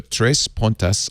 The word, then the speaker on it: Três Pontas: that 20% off you got to go to três pontas i say it that way so they can spell it TR es Pio and TAS that means